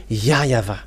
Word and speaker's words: YAHVAH: In Eastern part, the W for them, they pronounce it as V or B. It must be either of them. So here it is really seen, the W is really V, but it's the Western who changed it into W.